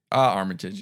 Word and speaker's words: Armitage: Armitage, yeah.